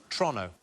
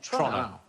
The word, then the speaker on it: Toronto: half is Canadian and everything seems to be pronounced a little bit faster than it should be so it's Toronto not Toronto oh is it Toronto Toronto but as quick